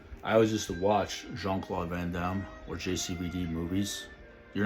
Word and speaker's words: Jean-Claude Van Damme: maybe because the people don't know how to say his name correctly in French it's supposed to be like this I would say Jean-Claude Van Damme Jean-Claude Van Damme you have to say like French the French accent going we and when